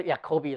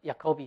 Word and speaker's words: Jacobi: 另外一个是不等式，叫做 Jacobi identity。应该念作 Jacobi 了哈。